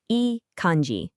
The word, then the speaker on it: いい感じ: And that phrase is eanji. Let's break that down real quick. It's pronounced eanji.